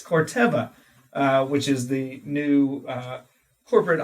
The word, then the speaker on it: Corteva: I've also been made aware that I was mispronouncing Phytogen's new corporate parent company name, as I was saying Corteva last time on the podcast. It's actually Corteva, new name out there,